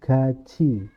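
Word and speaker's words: 같이: contoh ya Gat I ini kan huruf th ketemu dengan I jadinya bacanya gaji g i jadinya gucii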